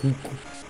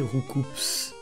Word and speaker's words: Roucoups: Que le nom normalement ça doit être Roucou. On prononce pas le S. Sauf que dans l'animé ils ont dit Roucoups. Parce qu'il devait pas être là ce jour-là. En même temps il y a un S, pourquoi ne pas le prononcer?